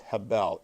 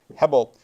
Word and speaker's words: hebel: word meaningless comes from the Hebrew word Hebel or it could be pronounced Hebel h-e-b-e-l Hubble um it's it's translated